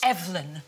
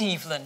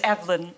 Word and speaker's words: Evelyn: Please welcome Evelyn Glennie. Dame Evelyn, welcome to the show. Thank you. Actually, it's Evelyn, not Evelyn. Oh, is it? Yep, it's Evelyn. Yep. It's like a Scandinavian pronunciation. It sounds like.